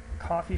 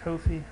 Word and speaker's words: Ko-fi: put them on my coffee shop to me that looks like kofi i don't know they could pronounce it coffee but if you go